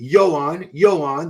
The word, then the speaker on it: Yoan: 3, Yoan, that's how you say it, Pradels from Spain.